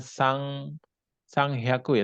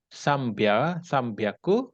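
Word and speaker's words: 三百: Ini bukan Sang Hyaku ya, tapi Oh, Sambyaku, oh ya Sang Yaku Sang Yaku. Sambyaku.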